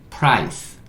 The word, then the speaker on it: price: 자, 밑에 P는 P, R은 real, I는 I, C는 쌍시오, S, E는 묵음, price, price.